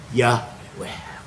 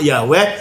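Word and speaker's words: Yahweh: Itu sebenarnya transliterasi dari kata Ibrani yhwh yang bunyinya sering diucapkan yahwe dan kata Tuhan untuk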